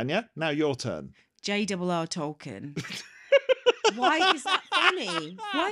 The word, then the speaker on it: Tolkien: she was she was a buffoon it's JRR talken everyone calls in that apart from clearly Australians